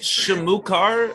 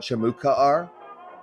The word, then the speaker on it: Shamukaar: bad it's bad what's that is is it shimookar or shamuka r it's shamu they're both acceptable